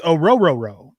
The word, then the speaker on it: Orohiro: It's Orohiro. The H's are silent. It's like row your boat.